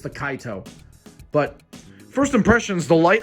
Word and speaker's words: Kaito: I always pronounce it the Kaito, but it's the Kaito.